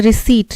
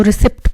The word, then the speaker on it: receipt: incorrectly spelled word हमें बताना है, तो देखो डिसीव्ड के स्पेलिंग करेक्ट है, रिसीट, रिसीट के स्पेलिंग पता है आपको, RECEIPT, जिसको रिसिप्ट भी बोलते हैं, रिसिप्ट हिंदुस्तान में हम लोग